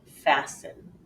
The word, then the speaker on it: fasten: comes between two vowels the final exception occurs when T is silent and this is often when it comes after an s in the middle of a word for example listen Castle and fasten you don't really hear the T sound at all in those words so take a look